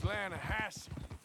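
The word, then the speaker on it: Lannahechee: it runs right near here yeah but it's pronounced lanahassee why is everything in English said differently than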